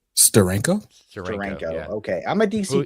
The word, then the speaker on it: Steranko: Steranko. How do you say that last name? Steranko.